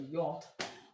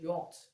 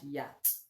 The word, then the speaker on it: yacht: We call it yacht, not yacht, and not yacht. It's yacht. Number one, you will know that it's a French word because number one, the CH is silent. Unlike the ones we have here. The CH is silent here.